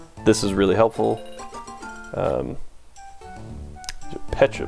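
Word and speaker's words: Pecha: is really helpful um Petra berries that is the correct pronunciation um for some reason when I was eight me and my friends all called them Pizza berries um even though there's not another vowel in there so I don't know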